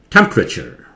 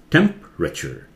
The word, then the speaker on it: temperature: ट्र a sound, entropy, ये टेम्परेचर, ये ई जो है क्लियरली नहीं सुनते हैं, साइलेंट जैसा होता है, इसीलिए ग्रे में कर दिया इसे, टेम्परेचर, टेम्परेचर, ये एवरेज, ये